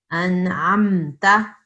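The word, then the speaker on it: أنعمت: An'amta. Okay, so make sure that you're not saying anamta. That's not right. It's an'amta.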